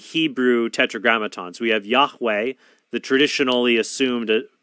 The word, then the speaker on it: Yahweh: By the way, they call him Jehovah because they combine the vowels for Adonai with the Hebrew tetragrammaton. So we have Yahweh, the traditionally assumed pronunciation of God, replaced with the vowels for Adonai.